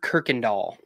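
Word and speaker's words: Kirkendall: and she has the pronunciation in her bio because she's smart. Uh, it's Amber Kirkindall.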